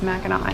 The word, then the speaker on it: Mackinac: great turtle forming what is now known as Mac and I but we found out that the French kept